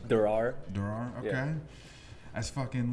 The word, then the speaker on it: Derrar: Derrar.